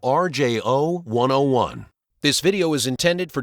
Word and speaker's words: RJO101: mount garage door opener model RJO101 (PRONOUNCED R. J. O. one oh one).